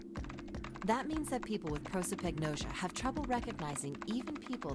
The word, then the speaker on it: prosopagnosia: to guess but he never heard the word pro so pagan i don't know how to say it what you've never heard of prosopagnosia prosopagnosia thank you lotus spun around in her chair